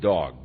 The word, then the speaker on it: Doeg: Doeg, and you could very well pronounce it dog, because he turned out to be a real dog.